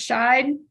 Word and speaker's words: Shai: Shai Jr and it's pronounced shine yes ma'am all right